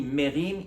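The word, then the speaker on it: מֵרִים: hébreu on appelle ça merim merim ça sécrit myiam mais ça se lit merim il a levé sa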